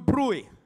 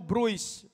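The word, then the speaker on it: Bruys: ay si Peter DU bru All right Medyo Alam niyo naman ang spelling po nito ay kung titingnan po natin Peter DU Bruce Pero iba po ang kanilang ah pronunciation so ito po si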